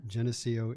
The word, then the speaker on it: Geneseo: it's a long time in his hometown of how do you pronounce that geneseel illinois geneseo illinois so sounds like you